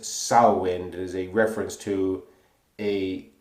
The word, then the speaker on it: Samhain: crafts the name is spelled Samhain but it's pronounced south wind as a reference to a Celtic Festival which